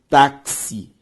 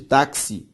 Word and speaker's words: táxi: Se eu faço a separação silábica de táxi, é uma palavra de sílaba, né? Táxi. Sílaba tônica tá. E termina em coisa diferente de A, E, O e EM. Por isso que táxi deve ser acentuado.